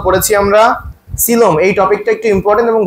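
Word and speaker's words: coelom: শিখতে হবে আমাদের বইয়ে সিলোম নিয়ে আসলে কথাবার্তা বলা আছে বেশ সিলমটা ইম্পর্টেন্ট কেন কারণ দেখো প্রথমে আসি সিলমটা একটু অন্যরকম সবার থেকে সিলমের বানানটা কি সিলোম সি এল ও এম হবে কিন্তু মাঝখানে একটা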